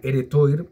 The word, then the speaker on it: Heretoir: yo pensé que era heretoir pero me sonaba más como una palabra francesa es porque el tuar el toir se pronuncia tuar que viene de una